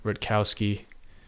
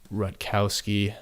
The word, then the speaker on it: Rutkowski: just look for Greg Rutkowski I believe that's how you pronounce it I think it's ru t ke o w s ki and great stuff I